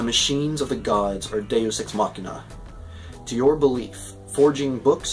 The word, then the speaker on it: deus ex machina: the poem i'm pretty it should be deuce no it's deus ex machina i probably mispronounce it